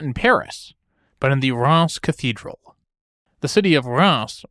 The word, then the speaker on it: Reims: It's spelled R-E-I-M-S, and as an American, I had always pronounced it Rhymes until I learned better.